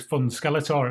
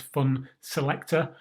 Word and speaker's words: Funselektor: selector i actually like was fun skeletor at first first saw it just the way that the way that the name is spelled but it's not it's fun selector uh this game is